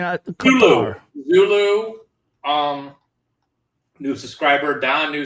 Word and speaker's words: Qatar: B says it's pronounced Qatar. Yeah, I mean, Qatar.